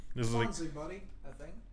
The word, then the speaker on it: Bonzi Buddy: This is Bonzi Buddy, I think. Because if it's AI, then it's bonsai, isn't it?